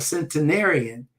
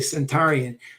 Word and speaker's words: centenarian: years old uh a centenarian uh uh um I think a cent yeah centenarian I used to say Centurian but I've heard it said like that but might be pronounced differently but we're talking about people